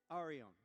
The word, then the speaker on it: Arion: Ar- In English it's Arion.